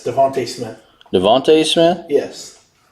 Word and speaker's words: DeVonta Smith: Yeah, it's Devontae Smith. Devontae Smith? Yes. It ends with an A, not an E. I know, but they still pronounce it Devontae.